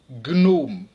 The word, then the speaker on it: gnome: Dans tous ces mots, le G et le N se prononcent séparément, alors qu'en général, le GN se prononce comme dans agneau, comme dans igname, ou encore ignorer. On prononce donc pugnace, stagner, gnome, agnostique, magna.